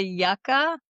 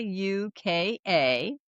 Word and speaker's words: Yuka: Are you mm, familiar with the yucca? no, Y what's that? uh, maybe I'm not pronouncing it, but it's Yuka.